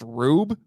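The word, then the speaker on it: R/B: 2018 Ultraman it's actually it's not r slash B it's actually pronounced rube I haven't seen this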